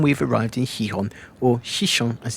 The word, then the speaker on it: Xixón: Day four of our cruise and we've arrived in Hihon or Shishon as it's pronounced in Atorium.